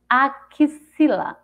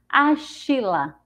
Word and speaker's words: axila: dessa coluna Artes fila Repete comigo axila axila e não tem gente para usar o som do X com s c h a gente vai falar a chila se a gente for para o céu x com som de sim acila se a gente for